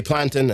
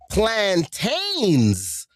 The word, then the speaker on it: plantain: So we're having this argument cuz I'm pronouncing it wrong to them. So I said I I said this the banana, the fried banana. She goes, "Oh, plantains." I said, "All right, whatever."